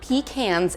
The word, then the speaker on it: pecan: Also, I know some of you in the comments are gonna be like, it's not pecans, it's pecan, it's pecan.